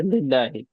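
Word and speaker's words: لله: the word of Allah, you do not pronounce this alif. You take up this alif. Okay? That's all. You just drop the alif. Okay, so look how it is here, lillahi.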